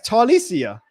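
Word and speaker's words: Taliese: So Tylees. I mean, my dude Freaky Peasy on Twitter, he sent me the pronunciation guy earlier. It's it's Talicia.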